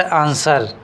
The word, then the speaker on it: answer: तो क्या करा 23वां number question, which is a silent letter in word आंसर। तो साइलेंट लेटर कौन सा है, तो यहाँ पे